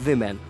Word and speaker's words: women: And when you pronounce it women, the spelling is like WIHMEN. So the sound is women.